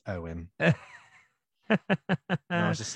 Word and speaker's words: Ewan: I hate that I know this, but it's pronounced Owen.